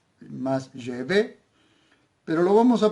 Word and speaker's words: Yahvé: Así que para nosotros es Yahvé, con una pronunciación más hacia la E, más Yahvé, pero lo vamos a pronunciar tal y como podemos, sin ser judíos.